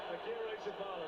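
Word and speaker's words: Agirrezabala: Akira Zabala, there you go.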